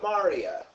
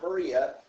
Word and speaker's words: maria: Another feature that we see are Maria. Not Maria, Maria. I call it Sounds like Mario.